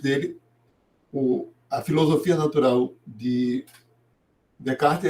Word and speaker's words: Descartes: Aí o Descartes, ou caprichando na pronúncia, Descartes, de René de Perron, Descartes.